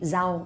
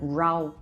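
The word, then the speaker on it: rau: say like for example when i say vegetables i would say zao instead of rao because it's just how uh hanoi people pronounce zao right so but maybe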